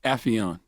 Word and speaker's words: Affion: Affion. Affion. Oh my goodness, You man. motherfucker. Mr. Crockett. That's what Russell said. He said Affion. It's very. He never said it the correct way. Affion sounds smarter.